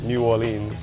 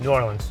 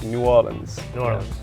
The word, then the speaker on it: New Orleans: One thing I do need to work on is my pronunciation of New Orleans because I keep saying "New Or-leens." "New Or-luhns." It's very much "New Or-luhns."